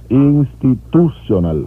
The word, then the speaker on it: Institutional: Institutional, el acento va en la U.